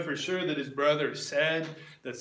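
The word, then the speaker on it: Cedd: We know for sure that his brother Ced, that's spelled C-E-D-D.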